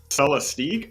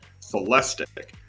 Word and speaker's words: Celestiq: the cadillac celestic so i think everybody was kind of pronouncing the celestique but um i think i saw on inside evs they were corrected and it was they were told that it was celestic which makes sense if it's